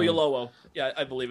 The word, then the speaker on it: Oyelowo: I think everybody, like on the ship you've got, is it Felicity Jones and David I can't pronounce his last name. Oyelowo.